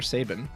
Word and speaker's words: Sabin: Do they pronounce Sabin's name? Is it Sabin or Sabin?